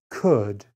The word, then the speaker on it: could: sound in the words could should and would there is no l sound in these words the l is silent could should would number